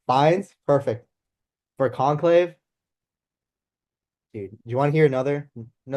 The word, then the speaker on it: Fiennes: Um, Ralph Fiennes, Fiennes, I don't know how to pronounce Fines. his name. Fiennes, perfect.